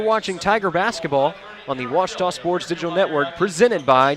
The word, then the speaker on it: Ouachita: How would you pronounce it? Ouachita. Ouachita. It's Ouachita Baptist University. Get it right. It's Ouachita, people. It's Ouachita.